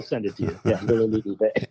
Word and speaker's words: Villers-le-Bel: Villers-le-Bel. Okay. Wonderful. Villers-le-Bel. Yeah, I'll send it to you. Yeah, Villers-le-Bel. And it won't look anything like it's spelled.